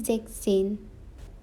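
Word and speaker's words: sechzehn: is 15 in german sex and seine is zexin now this is an exception that s in between is cut zebzen it is 17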